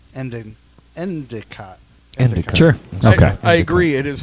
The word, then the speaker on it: Endicott: e n d i o t t end endicot sure I agree it is fully pronounced Bob Bob they're they're from Bob New York now on you call me Endicott why just me because all the rest of